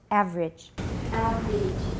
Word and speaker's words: average: really a full syllable we don't say average out it's not wrong but it sounds too long and also average out it's pretty much only two syllables average yeah just like family